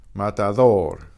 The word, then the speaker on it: matador: Matador, matador. Listen to my D.